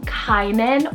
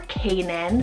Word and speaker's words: Kainan: We have Kainan or Canaan, spelled K-A-I-N-A-N.